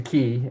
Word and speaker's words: quay: a stone uh we we would call it a Quay but in England you it's a key and you got to pronounce it the right way but you come down